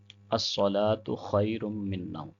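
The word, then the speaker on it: الصلاة خير من النوم: ایک تو سواد کو موٹا پڑھیں گے، اگر سواد کو موٹا نہیں پڑھیں گے تو سین اور سواد میں کوئی فرق نہیں رہے گا، یعنی حرف کو حرف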